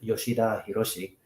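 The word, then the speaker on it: Yoshida Hiroshi: been really looking at Hiroshi Yoshida or properly pronounced yoshid hirosi uh last name first and yoshid was um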